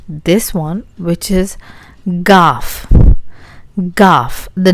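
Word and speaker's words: گاف: Gaff. The name is Ga. Gaff, and the sound it produces is very similar to Ga, like English give.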